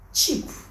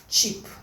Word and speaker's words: cheap: pronounce this words together the first one is cheap the sound is not sheep not sheep this is from S and H why this is cheap the next one is